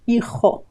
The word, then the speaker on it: hijo: Ch, a very strong sound. Hijo, jo. You should notice it here. Hijo, jo, jo, jo. Hijo, el hijo. And notice the O at the end of the word. Hijo, hijo. It's not O, but O. Just one sound. Just, no diphthong there, no O, but just O, O.